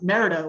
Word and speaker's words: Merida: five years from now you guys will actually pronounce it merida which is what it's pronounced you know you know